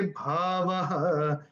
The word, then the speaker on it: भावः: देखिए, एक और रूल होता है, प्रथम और तीसरे चरण की समाप्ति पर अगर ओ की मात्रा आती है तो ओ का उच्चारण विसर्ग होता है। ठीक है, ये दूसरे अध्याय का 16वां श्लोक है, बड़ा फेमस श्लोक है। नासतो विद्यते भावः, आपकी किताब में भावो लिखा है, तो ये कैसे होगा?